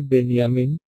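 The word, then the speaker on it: بنيامين: বেঞ্জামিন নামটিকে আরবিতে উচ্চারণ করা হয় বেনিয়ামিন, ইসলাম ধর্মের নবী হযরত ইয়াকুব, এর ছেলের নাম ছিল বনি আমিন।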